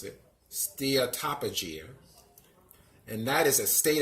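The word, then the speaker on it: steatopygia: dia stair top of Jia's that's how you pronounce it steer top of gene and that is a state of having substantial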